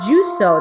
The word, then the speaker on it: Jusou: welcome back to another the juico that's how it's pronounced and i figured out